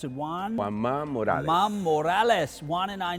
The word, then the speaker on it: Juan Ma Morales: I'm going to make him pronounce it Juan. Juan Ma Morales.